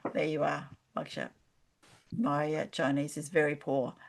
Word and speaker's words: Wuxia: Crossworlds fantasy, steampunk fantasy, Arthurian fantasy, sci-fi fantasy, and Wuxia fantasy. Wuxia. What's Wuxia? Yes, Wuxia is in fact rooted in classic Chinese literature and involves elements of fantasy interspersed with martial arts. So Oh, Jade, Wuxia, right, yes.